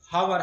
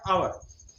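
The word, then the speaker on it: hour: आवर, और जैसे आवर, जैसे बच्चे जनरली बोलते हैं हावर, हावर बोला, लेकिन इसका एक्चुअल प्रोनाउंसिएशन क्या है, आवर, आवर, आवर, आवर कहेंगे, आवर कहेंगे तो यानी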